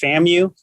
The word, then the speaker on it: FAMU: little about yourself uh yes so um it's pronounced famu fantasy i have been pronouncing it wrong for